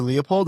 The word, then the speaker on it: Leupold: My name is Leopold.